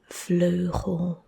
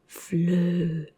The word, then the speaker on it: vleugel: And it's pronounced as vleugel, vleugel, vleugel. So the EU is ö, not ow, not oe, not u, vleugel.